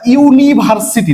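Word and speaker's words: university: আচ্ছা ইউনিভার্সিটি, দেখো প্রথম প্রোনাউন্সিয়েশন, ইউনিভার্সিটি পুরো ইউ কে উচ্চারণ করছে, এন হবে না এ হবে।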